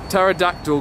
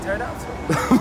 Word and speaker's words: pterodactyl: Why couldn't you hear the pterodactyl going to the bathroom? No idea, mate. Because the P is silent. Oh, is there a P in pterodactyl?